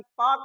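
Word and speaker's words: Palk: पालक ऐसे इनका नाम लिखा जाता था पालक। बट एल इज the silent. यहां पर एल जो था वह साइलेंट था। जिसके कारण इसको पाक कहा जाता है।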